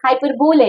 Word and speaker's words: hyperbole: the beautiful hyper bow which is being finally pronounced as hyperbole as well okay but basically it